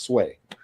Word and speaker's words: Tsui: I think I think it's it's pronounced it's pronounced sway oh sway okay right he pronounces it sway so oh I just Troy hark so yeah